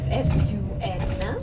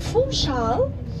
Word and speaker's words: Funchal: It's F-U-N-C-H-A-L, Funchal. And Funchal, we don't read the N, we just pronounce it Funchal.